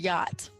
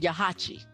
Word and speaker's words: yacht: It is not even pronounced the way you see it. I'm going to pronounce it yahachi because that's what it looks like.